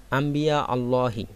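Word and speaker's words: أنبياء: এর বহুবচন হচ্ছে আম্বিয়া এখানে নুন সেকেন্ডের পরে বা আসাতে নুনটাকে মিম দ্বারা পরিবর্তন করে পড়তে হবে আম্বিয়া বলতে হবে আম্বিয়া আল্লাহর নবীদেরকে এখানে আম্বিয়া শব্দটা মুজাফে এজন্য আলিফ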